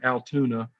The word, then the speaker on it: Allatoona: at what's called the Allatoona Mountains and Allatoona Pass. And us Georgians call it Altoona because Allatoona, that's too many syllables, to get out sometimes.